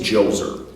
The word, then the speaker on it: Djoser: The first one is Djoser. That's right, the D is silent. But much like Menes, Djoser brought a united sense